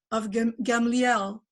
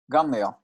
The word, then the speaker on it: Gamliel: You said that Shaul was a classmate of Gamliel, but yet he's also his teacher. No. So No. Shimon ben Gamliel would have been his classmate. Shimon, and then the father is, what's his name? The father? Gamliel.